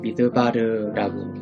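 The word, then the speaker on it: מִדְבָּר: 그래서 이 맴은 미음의 음가를 가지고 있고 히렉이 이기 때문에 미라고 발음하시면 됩니다.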